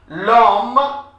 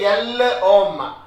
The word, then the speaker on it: l'homme: L'homme, whenever it's an apostrophe, you have to link it up. Liaison. You should not say l'homme. It is l'homme.